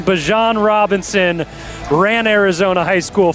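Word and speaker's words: Bijan: We got that pronunciation. Bjon Robinson ran Arizona high school football and we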